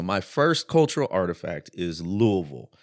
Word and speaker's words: Louisville: first cultural artifact is Louisville which apparently is how you say it Louisville like you got a mouthful of marbles I i' never say